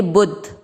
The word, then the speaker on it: बुद्धि: बू के साथ आधा द पढ़ेंगे बुद्ध, ठीक है। देन ध पूरा है, ध पे ई की मात्रा लगानी है, बुद्धि।